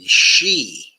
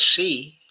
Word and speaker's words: Xi: And the name of it is waiting on she. Okay. Some people say it's pronounced as C. Okay. But I've always thought it was pronounced okay as uh she.